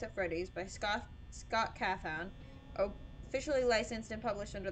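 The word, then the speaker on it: Cawthon: it's made by Scott cathon kothan how is this name pronounced carthon I'm gonna say carthon but if I'm wrong just the nose on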